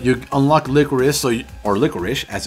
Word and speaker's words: Licorice: you beat medula you unlock licorice so or licorish as it's supposed to be pronounced and she is actually very decent but